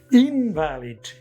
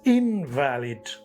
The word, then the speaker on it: invalid: Now, third example, invalid. If it's a noun, it's invalid. And if it is an adjective, invalid. He is an invalid person.